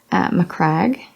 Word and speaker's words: Macragge: that one Abaddon Abadan macragge crag yep Acadia cat urchin cat